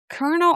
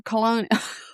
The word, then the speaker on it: Colonel: Is it pronounced colonel or colonial? No, it's colonel, Okay, right?